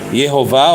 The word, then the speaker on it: Yehovah: true name the vow of Shiva is an e is is an O and kamat is an A or we can see that the name is a yehovah or E O A the true pronunciation defended by this um